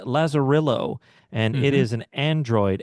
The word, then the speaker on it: Lazarillo: It's called Lazerillo and it is an Android app.